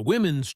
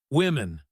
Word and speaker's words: women: The men's changing room is on the right, and the women's changing room is on the left.